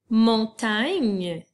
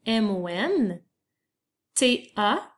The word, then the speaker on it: montagne: Montagne, qui s'écrit M-O-N, T-A-G-N-E. Donc, tu as l'équipe G-N qui fait le son N, comme dans montagne.